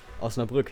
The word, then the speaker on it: Osnabrück: I know how to pronounce it in German, in the language it is written here, so... Osnabrück, yes.